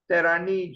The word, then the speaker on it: Terragni: if I remember correctly the pronunciation was kind of like terani Giuseppe but if I